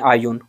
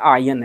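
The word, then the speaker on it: اعین: زرارہ ابن آئین، ٹھیک ہے، یا کے اوپر پیش پڑے آئین ہے، ٹھیک ہے، توجہ سے یاد کرو، سیکھو، ٹھیک ہے، ابھی سیکھو۔ اس کے بعد کیا ہے؟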